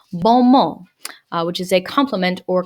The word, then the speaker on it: bon mot: And the French have this annoying habit of not pronouncing ending consonants in words. So it is bon mot, which is a compliment or clever comment.